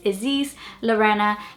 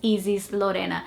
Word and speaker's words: Ysis Lorenna: here in the UK, I actually say my name is Ysis Lorenna because I think that's the way that it rolls off the tongue much easier. That's the natural way that people here say it. But in Brazil, I would say my name is Ysis Lorenna, which is very, very different.